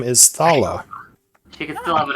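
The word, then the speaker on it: Thaala: you what did you say her name is thala t-h-a-a-l-a she says I do in draconic ah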